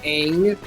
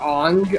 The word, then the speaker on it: Aang: Nickelodeon about a young boy named Aang, or Ong. I believe that's an appropriate pronunciation.